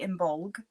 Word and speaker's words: Imbolc: there for too long so um how to pronounce imul um I say imul some people say imbolg um I've heard imul um yeah the these old words um open